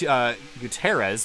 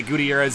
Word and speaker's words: Gutierrez: Talladega six of Chris it's Guterres we've been pronouncing that wrong for months by the way video oh yeah I talked to him prior to the race and he says he's fine with whatever pronunciation he says that Gutierrez is the more quote Spanish pronunciation I asked if he